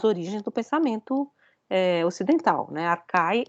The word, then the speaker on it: Archai: Se escreve Archai, tá? Mas é Arcai que se lê, tá? Porque o CH de Arqué, né, se lê como K, né?